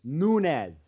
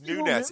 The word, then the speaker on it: Nunes: Latin dude he's Portuguese it's Nunes still Nunes no it's Nunes it's pronounced different because it's Portuguese H okay I may